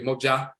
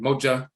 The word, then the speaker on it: mogya: So when we brought this terminology of mogya, we ended up pronouncing it moja, and moja was written by white ethnologists when we would say it as mojo and so forth, and that's where the mojo comes from.